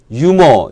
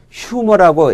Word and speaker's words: humor: 이게 무구 만인가 그래서 유모 이렇게 발음 하기 쉬운데 묵음 이 아닙니다 아 영어권에서는 휴 뭐라고 h 를 발음을 하죠